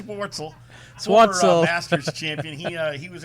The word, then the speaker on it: Schwartzel: Charles Swartzy. Is that how you pronounce his name? Nah, not right. Charles Schwartzel, former Masters champion.